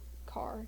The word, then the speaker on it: char: then um single characters would be um char or car depending on your pronunciation also boolean true or